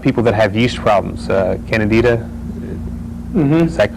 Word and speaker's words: Candida: Candida, is that correct Yeah.